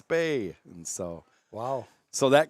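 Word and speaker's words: Spah: It's spelled S-P-A-H. Okay, no brainer, right? That's Lizzie Spa. No, it's Spay.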